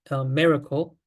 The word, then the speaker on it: MIRACLE: with quasi-local evolution, and we can abbreviate it as so-called as the English word miracle, which is pronounced similarly to the English like word miracle.